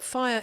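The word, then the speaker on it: PHIRE: But FIRE is spelt P-H-I-R-E, stands for Physicians' Health Initiative on Radiation and Environment.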